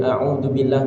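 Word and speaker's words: أعوذ بالله: Dalam pengucapan dari a'udzubillah tadi itu ada a sama ain, alif dengan ain. A'u. Jadi jangan au atau au, tapi a'u.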